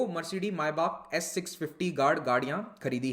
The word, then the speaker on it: Maybach: एसपीजी ने 2 Mercedes मायबाख S650 गाड़ियां खरीदी हैं। अच्छा, इसका प्रोनाउंसिएशन मेबैक नहीं होता है, मायबाख होता है। ठीक है, जर्मन नाम है।